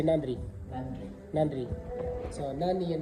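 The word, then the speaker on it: நன்றி: Nandi. Nandi. Nandri. Nandri. Nandi. Nandi. Yeah. And Tamil people say Nandri.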